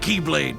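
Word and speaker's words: χ-blade: he means the x-blade it's just pronounced like keyblade even though it's just one keyblade ah the series is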